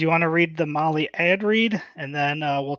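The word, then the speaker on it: Mahle: for the podcast listeners Molly is spelled m ahle e yes yeah just as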